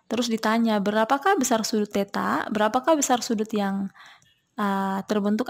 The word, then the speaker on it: theta: Ini sangat penting ya, untuk mencari cos theta, itu bacanya theta.